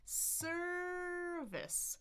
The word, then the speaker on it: service: We've got two syllables. First one is stressed. Da-da, da-da. Service, service. So we've got the already. We've got the right? Short I. We've got schwa.